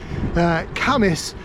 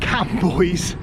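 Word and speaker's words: Cambois: an honorary Geordie now, Camas is spelt C-A-M-B-O-I-S. So for years I called it Cam Boys, and got dodgy looks from the locals.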